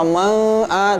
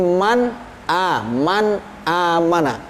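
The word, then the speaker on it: من آمن: Jadi bacanya harus jelas. Man amana, man a, jangan sampai man, apalagi ikhfa man a, tidak boleh, tapi man amana.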